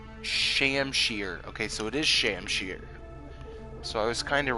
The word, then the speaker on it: shamshir: Okay, so it is Shamshir. So I was kind of right with one of my pronunciations.